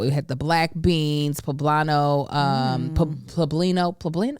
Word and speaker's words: poblano: had the black beans poblano um pueblino plublin how you say it i thought it was bobano okay poblano poblano peppers it had fresh tomato